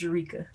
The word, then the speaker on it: Jerrica: coming in real good i gotta correct you though it's pronounced eureka ooh that's how we do it though i don't see no way i thought it was jericho that's how we do